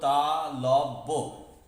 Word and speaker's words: তালব্য: কিন্তু তালব্য, বয়ের পরেও, জফলার পরেও কিন্তু একটা অয়ের উচ্চারণ রয়েছে, যেটা আমরা দেখতে পাচ্ছি না, কিন্তু এখানে সেই অয়ের উচ্চারণটি রয়েছে।